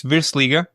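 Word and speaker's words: Virslīga: Is it the Versliga? Yeah, it's really called. You pronounce it in the really, really good way. It's Virsliga.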